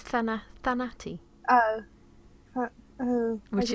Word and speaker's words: Thanatos: Uh, yeah, so honestly, I'd probably call that Fanti. Oh, okay. Well, it's Thanati.